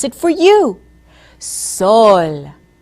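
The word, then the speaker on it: sol: word for sun in Spanish listen as I pronounce it for you soul soul now let's say it together Soul now say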